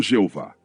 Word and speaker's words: Jeová: O nome do Deus do Velho Testamento era conhecido pelas quatro letras: Y, H, W, H, hoje pronunciado como Javé ou Jeová.